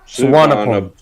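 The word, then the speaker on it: สุวรรณภูมิ: Suvarnabhumi. So you don't use the V. It's like a Suvarnabhumi. silent V. It's a W.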